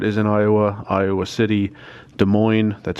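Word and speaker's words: Des Moines: of Iowa Davenport is in Iowa Iowa City De Moine that's how you pronounce that and I think when I plug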